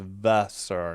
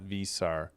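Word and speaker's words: Veesaar: I was saying it wrong somehow. V E is Vesser, not Visar.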